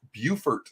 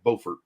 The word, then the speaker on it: Beaufort: on here it's pronounced Beaufort South Carolina but in North Carolina they call it it's spelled the same but in North Carolina it's called Beaufort okay so that that